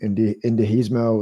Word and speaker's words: indigenismo: It's progressivism, indigenismo, left-wing nationalism. How do you pronounce that?